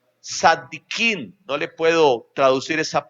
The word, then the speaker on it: Tzadikim: Según la tradición oral, los judíos decían que Amram era uno de los 4 Tzadikim. No le puedo traducir esa palabra, se escribe con T, Z-A, Tzadikim, que significa hombres justos, perfectos, que jamás cometieron un pecado.